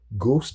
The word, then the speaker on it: ghost: Ghost is it's pronounced a G-O-S-T, ghost. You don't expect an H because an H is it's redundant, right? It's not doing anything like the word ghost.